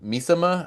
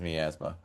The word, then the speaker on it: Miasma: Uh, I did go see uh Teenage Sex and Death at Camp Misima. I think that's how you say it. Miasma. Miaasma. That's it. Yeah, you're right. You're right. It is Miasma.